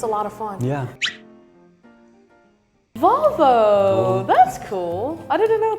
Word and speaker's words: Volvo: In Sweden we say Volvo.